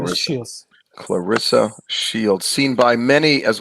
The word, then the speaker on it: Clarissa: He's got a whole crew of boxers now, including Clarice Shields. Did I pronounce her name properly? It's Salita Promotions, and the fighter's name is Clarissa Shields.